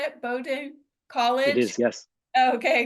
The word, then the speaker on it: Bowdoin: from Bowden is that how to say it Bowden College it is yes okay great in Brunswick